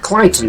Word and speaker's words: Claughton: nearby club on Brock instead pronounced Clayton by the locals apparently but we're sticking